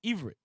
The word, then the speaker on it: Ivrit: The name Hebrew is simply the English version of the Jewish word Ibrit, pronounced as Ivrit.